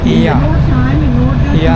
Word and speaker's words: Oia: आपको जो दिखाई दे रहा है ये पनागिया चर्च है, ये ईया है, OIA लिखा है। यहाँ पे लोग ईया प्रोनाउंसिएशन करते हैं।